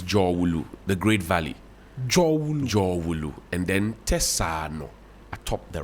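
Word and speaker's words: Dzorwulu: That's what Jowulu. They will just say it fast. No, but it's Jowulu. people say Jolu. It's Jowulu, the Great Valley. Jowulu.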